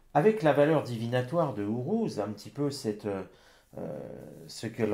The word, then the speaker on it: Uruz: Uruz, plutôt. Avec la bonne prononciation.